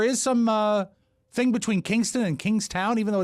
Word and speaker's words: Kingstown: k-i-n-g and rhode island i seem to remember that being pronounced by the locals as kingston but i could be wrong okay it was close